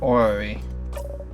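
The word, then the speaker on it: orrery: Orary. I'm going to look up the pronunciation of that. Annunciation. It's called an ory. An ori?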